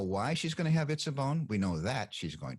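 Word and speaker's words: עִצָּבוֹן: Well, the first of the two nouns in word group number 2, and that's pronounced Itzabon, refers proleptically to the Itzabon of verse 17.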